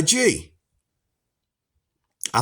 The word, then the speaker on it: gi: This is why we practice martial arts in a G. I think it's actually pronounced gi.